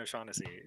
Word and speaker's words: O'Shaughnessy: Did I pronounce it right? That's right. Yeah, Colleen O'Shaughnessy.